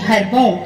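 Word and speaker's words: ہڑبونگ: बच्चों आज की क्लास में हम सीखेंगे उर्दू पढ़ना, जो कि हार्ड वर्ड होता है जिसका प्रोनाउंसिएशन मैं इंग्लिश में पढ़ के सिखाऊंगी। यहाँ देखिए HAR हर, BONG हरबोंग, इसे हमें पढ़ना है हरबोंग।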